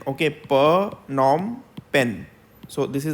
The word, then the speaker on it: Phnom Penh: is the capital of Cambodia so this is pronounced as pranam pen okay per Norm pen so this is how it is pronounced it